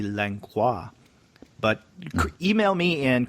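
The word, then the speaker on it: Langlois: and this is lengua from Quebec and I'm not sure if I'm pronouncing your name correctly um it is l-a-n-g-l-o-i-s so since he's living in Quebec I guess it might be lancois but email me and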